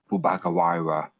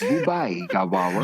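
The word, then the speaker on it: Bubaigawara: Like, it's not like Bubakawara. Probably said that wrong. Is back. It's definitely just Toga. I don't know how to pronounce his name either. It's Bubai Gawara. Yeah, it's just like that.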